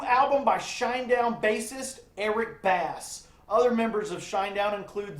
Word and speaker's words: Bass: Name is the debut album by Shinedown bassist Eric Bass. Other members of Shinedown include Zach guitar, Barry drum set, and Brent vocals. I'm sorry. Eric Bass, like the fish, is the correct pronunciation.